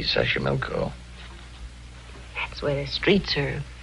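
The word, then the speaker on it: Xochimilco: better than i do it's easy sasha milko that's where the streets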